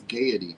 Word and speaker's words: Gaiety: It's Gaiety. That's how you pronounce it.